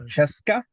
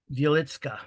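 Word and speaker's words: Wieliczka: Wilcheska? I will find out. Wilcheska. Wilcheska. I think that's how you pronounce it. Wilcheska. Milishevka. Mm-hmm. Wielitska.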